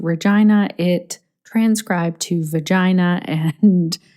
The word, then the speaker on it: Regina: at the transcription when colin was just kept mentioning regina regina regina which is exactly how regina saskatchewan is pronounced which is odd that it's not regina and so nothing can